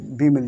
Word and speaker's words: bomb: कहीं पे मिल जाए, एम के बाद अगर आपको बी मिल जाए तो बी कैसा रहता है, साइलेंट रहता है। तो यहाँ पर पढ़ना है आपको बोम।